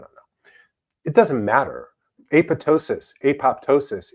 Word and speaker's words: apoptosis: research into Greek and the way that you actually pronounce this word is apoptosis, but I don't know why they needed to be mean about it. But anyhow, I I've tended to say aptosis, but I don't know.